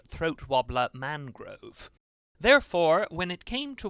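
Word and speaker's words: Throatwobbler Mangrove: whose name is spelled Raymond Luxury Yacht, but pronounced throat wobbler Mangrove.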